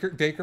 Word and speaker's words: Dacre: it's Dacre Mount. It's Acre with a D on it, so that's how I'm pronouncing it.